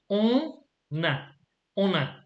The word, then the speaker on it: on a: So, for example, on pronounce on the we don't pronounce the n if it's all along, but in this particular case you have to, because the next word starts with a vowel. So we say on a.